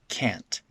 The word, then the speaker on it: can't: that's the normal pronunciation what happens when we speak quickly though well that t gets turned into a glottal stop can't can't can't i'm not saying the t fully i'm just cutting it off in my throat